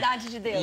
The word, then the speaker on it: Cidade de Deus: I've seen like Cidade de Deus, whatever it's pronounced. City of God, you know, the film, the Brazilian film. Cidade de Deus. Yeah, that's how you pronounce it.